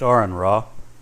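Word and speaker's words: AronRa: It's pronounced Aaron Ra.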